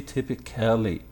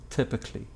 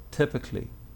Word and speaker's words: typically: like that don't say typically actually if you consider the pronunciation here you will notice that between the c sound and the la la sound there's nothing so the right way